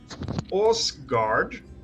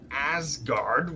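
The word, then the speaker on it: Åsgard: know about it uh osguard not asgard which everyone calls it i hate because it has that little circle over the a right yes it's pronounced differently yeah i don't know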